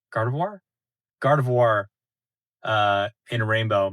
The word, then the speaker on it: Gardevoir: Why do I say it like that? Gardivoir like a reservoir. Gardavoir. Gardevoir.